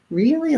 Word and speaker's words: really: on that word but if i'm saying i'm really this i'm really that i'm going to use the if vowel and it rhymes with words like hilly and silly so you may notice